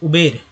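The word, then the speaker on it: Uber: उबर लोग नहीं बोल पाते हैं, लगता है कि गलत है, लेकिन एक्चुअल उच्चारण वही हो रहा है, एक्चुअल उच्चारण है, करेक्ट है। लेकिन उबेर भी बोल रहे हैं तो गलत नहीं है, क्योंकि अब मैं बोलूँगा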